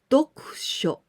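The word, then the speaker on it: 読書: Together we pronounce dokusho.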